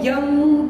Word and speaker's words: यं: ध्वनि निकलती है वो यंग के ऊपर यंग ठीक है य के ऊपर चंद्र बिंदु ठीक है ध्यान रखिएगा इस